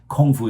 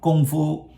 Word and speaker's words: kung fu: very good point that it should be pronounced like with a G sound not with a k sound uh the the K